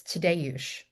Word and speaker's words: Tadeusz: It's Tadeusz.